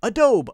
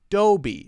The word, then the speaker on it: Adobe: next one Adobe again you might think oh oh oh silent e long Oh Adobe Adobe a dope no no no no no ah short a dough Oh be be uh Dobby if you use Photoshop or any of those applications you use a Dobby uh doe be three syllables adobe products adidas ah